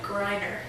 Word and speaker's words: Gryner: me because every time I say it, I mispronounce it. Yeah? Yeah. It's Emm Gryner.